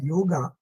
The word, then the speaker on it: yoga: which is known as yoga or which is founded by panjali so this is originally known as yog but we pronounce is it as yoga and this is I